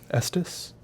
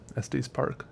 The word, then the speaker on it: Estes: Estes. I think it's pronounced like testes without the T. Estes Park.